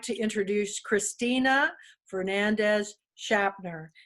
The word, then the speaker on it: Shapter: And I will like to introduce Christina Fernandez Shapter. It's spelled like chapter with an S.